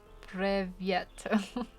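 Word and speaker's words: Привет: Oh, it's pronounced Privyet.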